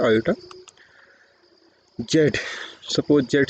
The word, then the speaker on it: iota: ठीक है, तो अब जैसे इसको प्रोनाउंस क्या किया जाता है? आयोटा।